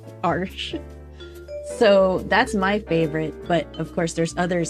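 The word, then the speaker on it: Arches: My favorite is Arsh. Arsh. I know. I I learned how to pronounce that. Arsh.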